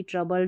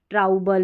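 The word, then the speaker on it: trouble: तो ऐसे आप इनको अभी आपने पढ़ लिया जैसे मैंने पढ़ाया यंग, कंट्री, ट्रबल, डबल तो आप कंफ्यूज नहीं होंगे। इसको काउंट्री नहीं पढ़ेंगे, ट्राउबल या डाउऊबल नहीं पढ़ेंगे।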